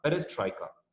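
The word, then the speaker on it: перестройка: जब तुम उसको प्रोनाउंस करोगे तो कैसे प्रोनाउंस करना है? पहले पेरेस बोलना है, पेरेस, एंड बाद में ट्रॉइका, ठीक है। तो टी से अलग प्रोनाउंसिएशन करना है तुमको, पहले पेरेस बाद में ट्रॉइका, पेरेस ट्रॉइका।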